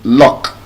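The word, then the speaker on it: lough: So, how would we now pronounce L O U G H? How would we pronounce L O U G H? L O G. love. L O G U u G h is not low and it's not loud. Love and it's not love. The pronunciation would actually shock you. You're getting closer. Look. The pronunciation of that word is luck.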